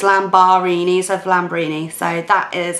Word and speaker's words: Lambarini: have that as a youtube name but it is spelled differently so I've spell my name differently so it's lamb bahraini so raining side that is how I coming